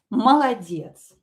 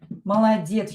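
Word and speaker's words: молодец: And the last one is Maladets. Ma la diets. Maladets. You probably know this word. This is a very common word. Ma la diets. Here yes, trust. Both o's will be pronounced as a.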